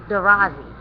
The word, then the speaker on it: Druze: So if he was a Druze priest, well, first of all, again, Druze, the word Druze was actually pronounced Darazi.